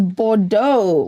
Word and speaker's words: Bordeaux: these were the Bo AR D tau we pronounce that as Bordeaux okay I might just find the scripts outlined